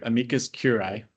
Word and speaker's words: amicus curiae: commission of California Michael how do you pronounce that? Uh we are yeah work on our Latin here amikas curai.